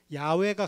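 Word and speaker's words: 야훼: 원래 발음이 아니겠죠 그래서 원래 발음에 가까운 것은 야외가 가깝다 그래서 야외라고 번역한 본문도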